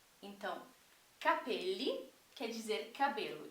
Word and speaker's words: capelli: quer dizer chapéus tá percebam como a diferença na ênfase da pronúncia muda totalmente o significado então Capele quer dizer cabelo e